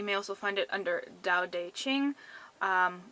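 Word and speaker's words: Tao Te Ching: also find it under Dao de Ching which is actually spelled with T's instead of D's but pronunciation is strange the next set of numbers I got were 2 8 9.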